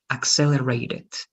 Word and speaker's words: accelerated: This one it's with double C, so it's going to be axe, and this is ed. So you always need to be careful with the ed. All right. Accelerated.